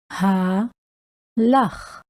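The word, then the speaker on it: הלך: So we're going to have Ayelet show you how to pronounce this Hebrew word. Halach, halach, halach, halach.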